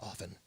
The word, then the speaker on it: often: It's often. Often. There's a T in there. The T is silent. Often.